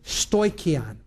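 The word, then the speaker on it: στοιχεῖον: This is the word stoikion. I'll spell it.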